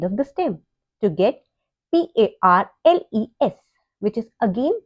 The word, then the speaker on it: parle: say in French, elle parle. Elle parle. Here again, we have added a E at the end of the stem, PARL, and we have got PARLE, which is again pronounced as parle.